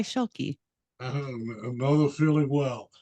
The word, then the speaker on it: Schielke: It's Schielke. It's German. My husband's. I'm borrowing it, I guess. But I think the original pronunciation is Schilke. But here in the United States, we go by Schielke.